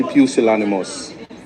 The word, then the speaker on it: pusillanimous: we must not be pusillanimous. Pusillanimous. Pusillanimous. That is the pronunciation of the word.